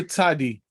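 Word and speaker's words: צדי: we have the letter tadi okay we said that we pronounce it like a t s but originally it was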